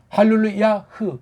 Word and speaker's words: 할렐루야: 할렐루야흐 이게 맞을 텐데 할렐루야로 해버린단 말이에요.